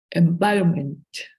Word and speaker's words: environment: Environment. Environment. Very well. The T, the last T is not necessary to pronounce.